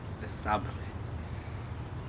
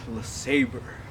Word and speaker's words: LeSabre: It's French, LeSabre, not LeSabre.